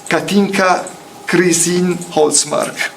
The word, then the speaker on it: Katinka Holtsmark: So Philippe Tulkens, Alejandro Caparrós, and Katinka Holtsmark. Did I pronounce it correctly?